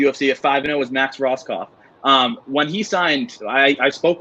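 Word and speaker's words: Rohskopf: Roskoff.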